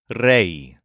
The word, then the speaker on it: rey: word for King is Reay spelled re y so this word is pronounced with a bend in it kind of like the word say and unlike the words